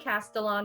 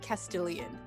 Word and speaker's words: Castellan: I think Castellan is good. Castellan, because when I read the book, I always read it as Luke Castilian because I am illiterate.